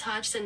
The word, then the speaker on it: Hodgson: How do you pronounce her name? Francis Hodgson Bernett.